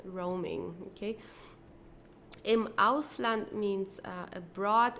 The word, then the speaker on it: Roaming: Roaming is an English word and for this reason we have to pronounce it the English way. Okay, roaming. So we don't say it as it would be in German like roaming or so it's roaming.